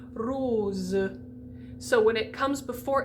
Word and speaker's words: rose: either side of it often s is pronounced like a z so the word um like rose is going to be rose so when it comes